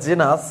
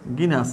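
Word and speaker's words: genus: অ্যালুমনাস focus এরপর হচ্ছে জেনাস জি এন ইউ এস জিনাস জি গিনাস না জেনাস জেনাস বলি আবার গিনাস বলি গিনাস বা জেনাস উচ্চারণ দুই ভাবে হবে লুকাস আচ্ছা লুকাস এরপর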